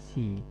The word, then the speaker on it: she: She itu bukan C ya, tapi S H E dibacanya si, dia perempuan.